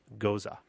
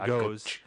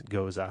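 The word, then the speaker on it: Gose: Not Goes. When I first saw these types of beers, I kept calling them Goes. Or Goose. Or Goose. But apparently the German pronunciation is Goza.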